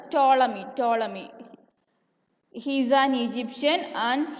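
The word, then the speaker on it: Ptolemy: the astronomers that is ടോളമി is silent so we can pronounce it as ടോളമി ടോളമി ഈസ് an Egyptian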